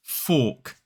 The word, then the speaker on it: fork: So again, it's about that vowel sound that comes in that word. The polite one has an or in it, and the rude word has an in it.